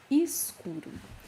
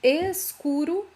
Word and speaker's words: escuro: Escuro. You can say escuro or escuro, okay? Both pronunciations are correct.